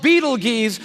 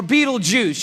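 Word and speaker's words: Betelgeuse: heard about this star it's called Beetle Gees or beetle be juice you can pick your pronunciation I'm obviously going with Beetle Juice and Beetle Juice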